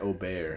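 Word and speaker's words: Åberg: Like when we're all like, Aberg. No, like it's like more fun to say Aubert. It's Aubert. Yeah, it's pronounced Aubert.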